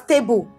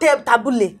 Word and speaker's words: table: It's pronounced as table, not tabule. What is tabule?